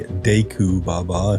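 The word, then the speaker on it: Deku Baba: And here we have the decu baba, a carnivorous plant and one of Hyrule's more aggressive flora, or you could say deu baba if you're leaning a little bit more into the Japanese pronunciation thing.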